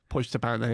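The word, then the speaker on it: Pojďte pane: inspired you, and I'm going to imagine I'm pronouncing this wrong, but I think it's Pojd'te Pane. Pojd'te Pane, yeah.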